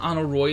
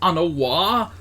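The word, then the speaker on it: Aymeric: been saying it wrong it's not on a roi it's on a wall no no what have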